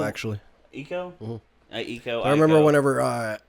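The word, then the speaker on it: Ico: they do great work I mean e actually eco eco I remember whenever uh Eco came out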